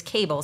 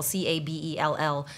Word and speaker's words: Cabell: The West Virginia case I mentioned, which I think it's Cable, Cabell, I think it's pronounced Cable, and St.